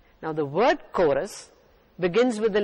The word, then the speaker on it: chorus: church chorus is spelled c-h-o-r-u-s church is also spelled c h u r c h in the first word chorus c h has a k sound k in the second